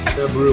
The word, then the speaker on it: February: See, everybody says There's no R in February. Right. February.